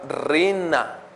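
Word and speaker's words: רנה: Y es una palabra que se llama rina, con acento en la A y doble N, rina.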